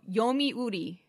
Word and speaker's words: yomiuri: means to read and sell yomi uh yo yomiuri okay yomiuri yeah spell it uh y-o-m-i-u-r-i yeah uh an another format